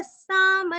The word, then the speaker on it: साम: त्रिसामा सामगः साम निर्वाणं भेषजं भिषक् संन्यासः कृच्छमः शान्तो निष्ठा शान्तिपरायणम्। त्रिसामा त्रिरस्व, सामगस विसर्ग का आधा स, साम यहाँ का म पूरा पढ़ना है, निर्वाणम निरस्व, निर्वाणम अनुस्वार